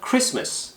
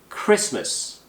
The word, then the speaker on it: Christmas: T는 발음이 되지 않아요. 그래서 Christmas 액센트 이름절 Christmas 그리고 발음 어렵다.